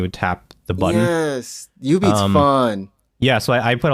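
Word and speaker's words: jubeat: When you said U-Beat, I didn't recognize it because I always pronounce it Ju-Beat because it's it's spelled like J-U, right? J-U beat or something. U-Beat.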